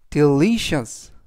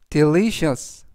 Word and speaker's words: delicious: 뜻이 되겠습니다 이번 단어는 delicious delicious delicious라고 발음하시면 되겠고요 이때 강세는 알파벳 L 뒤에 있는 아의 강세가 있습니다 그래서 delicious라고 발음하시면 좋겠고요